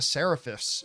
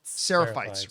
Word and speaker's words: Seraphites: I know I'm mispronouncing it, but I'm just going to go with the word Seraphis for whatever. They call them the Scars. but Seraphites. Seraphites, right? Seraphites, yeah.